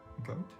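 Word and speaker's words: Goethe: i would love to know how to actually pronounce this guy's name um but it's johan wolfgang goat it's just goat i know it's got a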